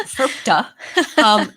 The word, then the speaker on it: FIRPTA: We pronounce it FIRPTA.